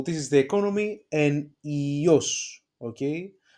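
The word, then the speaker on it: υιός: So this is the economy, and ios, okay? It's pronounced again as E, and it is the son, okay?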